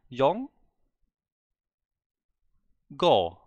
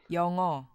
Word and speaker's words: 영어: This is saying Yong go. There's a G here. I don't get this G. I don't get this G in the second syllable. Where's it coming from? Is it connected from the previous syllable? Is that correct? The audio sample here is saying otherwise. Yongo.